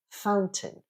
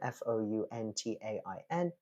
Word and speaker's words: fountain: get round wrong is Fountain yeah uh it's spelled exactly the same f o u n t a i n Fountain Mountain Fountain um one word that people